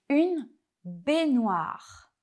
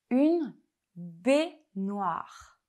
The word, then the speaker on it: baignoire: vous entraîner à les répéter avec la bonne prononciation. Passons au deuxième mot. Une baignoire. Une baignoire.